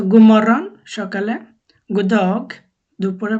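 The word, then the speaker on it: god morgon: বলবে যখন সূর্য উঠে গুমরন গুমরন গুমরন লেখা আছে গু ওডি গু কিন্তু বলার সময় আর কি পুরো ওয়ার্ডটা বলে না শুধু গু বলে গুমরণ গুমরণ দিনের বেলা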